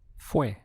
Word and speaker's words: fue: It's fue. Just one syllable.